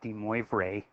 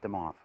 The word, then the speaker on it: de Moivre: name is de mob it's the French pronunciation that looks like de moivre but you'd say it them off ok so to do this mr.